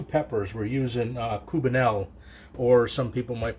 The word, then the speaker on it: Cubanelle: We're using Cubanelle, or some people might pronounce it Cubanelle.